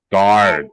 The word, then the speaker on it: guard: Guard camera and cameras. Okay, remember the word guard. I know there's a U in the word, but we don't pronounce that U.